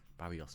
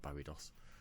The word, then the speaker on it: Barrios: Barrios, not Barrios. Keep saying it wrong.